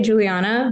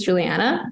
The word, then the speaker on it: Julianna: Julianna? That's a great question. I say Juliana, but my mom who named me says Juliana.